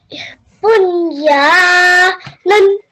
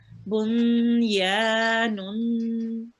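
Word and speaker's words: بُنْيَانٌ: Yes, so we make a nasal sound and then we prolong the nasal sound for 2 seconds. So nun, Nun. very nice. Bun ya nun.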